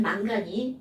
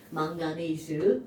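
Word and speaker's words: manganese: 난 망간이 우리말인 줄 알았어요. 왠지 망간은 한글스럽지 않아요? 네. 그런데 나중에 대학 가서 보니 망가네이즈 영어였어요. 그리고 일본에서 애들이 말이 기니까 뒤에 딱 잘라버리고 망간 이라고 읽어버린 거야. 이게 뭐하는 짓들이냐고 이게. 자, 망가네이즈라고 하셔야 됩니다.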